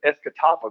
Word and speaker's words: Escatawpa: The town I lived in is Escatawpa, Mississippi. Yeah, see, I can't pronounce either one of those.